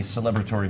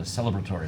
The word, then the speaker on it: celebratory: And we are in a celebratory mood, or a celebratory mood, I guess is the proper inflection on that syllable.